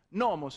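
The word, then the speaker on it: νόμος: Nomos è una parola parossitona, quindi si pronuncia nomos, e anche al plurale si sarebbe dovuto pronunciare nomoi e non nomoi, come invece ho sentito dire 4-5 volte.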